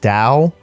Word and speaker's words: Tao: But then I realized that TAO is pronounced Dow, and her name is straight up Dow Jones, like the stock exchange.